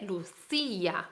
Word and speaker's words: Lucía: la luz y ya él lleva tilde también el ay y entonces la tónica es y entonces se dice lucía vale que tiene 19